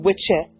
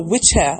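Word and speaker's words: wicce: So Wicca, the word Wicca, is based on an old English pronunciation of the word witche or witch or witcha or witch. So W-I-C-C-E, witche.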